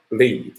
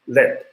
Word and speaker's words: lead: You have to cancel the PB, you have to pronounce this as not lead, but led.